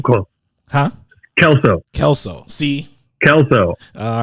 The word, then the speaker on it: Kalsow: Yeah, it's just like that 70s show or Scrubs, if you've seen those at all. They have the iconic Kelso characters. It is spelled a little bit different. So I have been called or before. But no. Kelso.